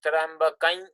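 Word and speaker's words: त्र्यम्बकं: And here in the this mantra, the proper pronunciation is actually Trambakam Yajamahe, the nasalized sound.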